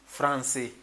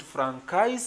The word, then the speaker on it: français: So after that, you also have to know the reason why it has to sound français and not francais and not franqué and not other thing, but